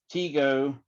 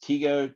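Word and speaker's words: Tycho: by the name of teego i think it's t-y-c-h-o but i think it's pronounced teego tico brahe now he was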